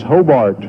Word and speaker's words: Hobart: and he said no it's this Hobart it's not Hobart so as well my where I come from is Hobart so they pronounced a little bit different but it still still hope it